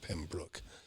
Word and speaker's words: Pembroke: town called pembroke pembroke it's spelled pembroke but they call it pembroke anyways and i said